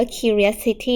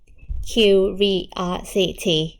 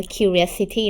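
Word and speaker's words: curiosity: Word sq Vios City คำ นี้ อ่าน ว่า คิว ลิส City นะ ลูก อ่าน ให้ เป็น อ่า ให้ 5 พยางค์ อ่าน ให้ เป็น 5 พยางค์ นะ คะ ก็ คือ คิว Vios สิ ที นะ คะ ไม่ อ่าน ว่า คิว เรดซิตี้ นะ จริง Q ซีรีส์ มัน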